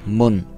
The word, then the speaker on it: Mun: It's so disorienting because the Kerbin's moon is called Moon, and I don't have a problem saying Moon because I'm a German and the U in Germany is pronounced U. So Moon it is.